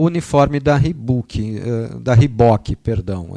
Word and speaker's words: Reebok: O Guarani lançou o uniforme da Reebok, perdão. Eu não vou entrar na onda de quem fala errado, não. É Reebok, tá, gente? Essa é a pronúncia correta.